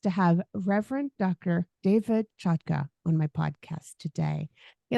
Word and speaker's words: Chotka: go by that sure you pronounced my name correctly so kudos to you it's a Ukrainian name now everybody in America